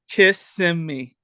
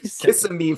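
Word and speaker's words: Kissimmee: more time Conor how do you corre correctly pronounce this suburb of Orlando kiss Sim me kiss yeah kiss okay kiss me Florida at the ESPN worldwide um worldwide Event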